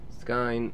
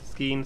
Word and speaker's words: Skine: Skine, so it rhymes with Stein or Spine, so Skine, okay.